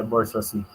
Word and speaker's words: bourgeoisie: Kung gusto natin talagang pronunciation ay bourgeoisie.